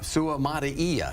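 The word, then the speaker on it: Suamataia: uh sutia go ahead it's Kingsley Su Maia Su Maia there you go there you go I said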